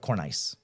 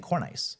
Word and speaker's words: cornice: So I just wanted to like know how to, and then like the cornice is spelled Cornice. So like cornice. Oh, I was saying cornice.